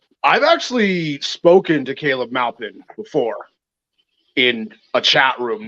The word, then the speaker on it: Maupin: It's actually not pronounced however he was saying it. Maupin is the name of a city that's here in Central Oregon, actually.